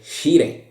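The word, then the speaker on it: Scirè: And they were launched from the submarine Shire, il sommergibile Shire. This is the correct pronunciation.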